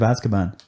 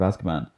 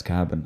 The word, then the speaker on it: Azkaban: read a lot was prisoner of azkaban but he pronounced it as cabin and he just like